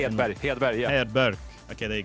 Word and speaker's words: Hedberg: Hedberg, yeah.